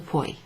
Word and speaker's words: puoi: Sì, lo puoi. Yes, you can. Puoi. So this one rhymes with vuoi.